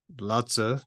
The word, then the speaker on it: Lao Tzu: But anyway, so Lao Tzu, and you pronounce it Lao Tzu. That's the way best my approximation of it.